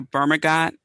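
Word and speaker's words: bergamot: use are uh the burma got i'm probably pronouncing that wrong burma go it's probably you know pronounce the t b-e-r-g-a-m-o-t i think you don't pronounce the team vermigo orange uh to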